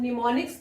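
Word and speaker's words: mnemonic: अब निमोनिक्स क्या होते हैं, स्पेलिंग देख लीजिए, एम साइलेंट है, निमोनिक, एम इज साइलेंट।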